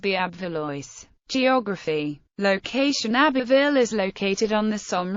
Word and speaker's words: Abbeville: Abbeville French pronunciation, Abbeville, is a commune in the Somme department and in Picardy region in northern France.